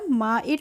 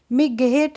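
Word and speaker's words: might: क्या होगा माइट पढ़ेंगे इसमें जो जी एच का प्रोनाउंस एशन है उसको हम नहीं पढ़ेंगे जीएस का प्रोनाउंस एशन नहीं करते हैं तो एम आई जीएसटी को हम पढ़ते हैं माइट मगेट नहीं पढ़ते हैं या मेघ हट नहीं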